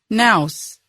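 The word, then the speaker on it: Knauss: The future First Lady worked in Milan and Paris under the name Melania Naus, the German pronunciation of her name.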